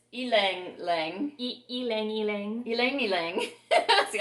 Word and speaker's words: Ylang Ylang: Now, Nancy corrected me on the pronunciation because I always thought this was Ylang Ylang, Right. but it's Ylang Ylang.